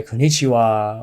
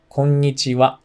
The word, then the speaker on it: konnichiwa: of american people say konichiwa or i hear a lot of french people say konishiwa or something like that but the correct pronunciation is kongnichiwa this is a good